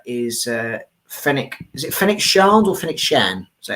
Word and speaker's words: Shand: Is it Fennec Shand or Fennec Shan? Is that how you pronounce his Fennec name? Shand.